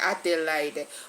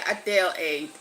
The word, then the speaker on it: Adelaide: Is it Adela? Okay, it says no. How do you pronounce it? A delayed. Is it a delayed king? Adele. Okay. Adele aid.